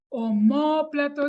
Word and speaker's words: omóplato: palabra o modo plato omóplato es una palabra esdrújula porque la sílaba tónica esta es la anterior a la penúltima está